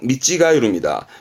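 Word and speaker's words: 見違える: 뒷글자가 아까 했던 다르다의 찌가우인데 발음은 미찌가이루입니다.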